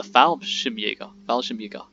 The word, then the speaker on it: Fallschirmjäger: But I have actually learned how to say now the Fallschirmjäger, not fall, it's Fall, which is interesting to learn, but I'm learning on the way, and also how it's not really canon, it's Kanon.